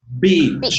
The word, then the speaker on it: beach: Remember, it's a short E. It's it. Bitch. Playa. Long E. Beach.